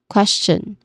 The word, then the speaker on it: question: Another way to say this particular spelling instead of sh we say it is ch we started with ch sound.